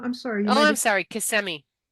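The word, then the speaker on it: Kissimmee: Casemi. CMI. Is that how you say it, you Flidians? Is it CMI? Yes, ma'am. Okay, good.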